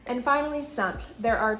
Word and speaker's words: simple: And the final sentence, mon logement est simple.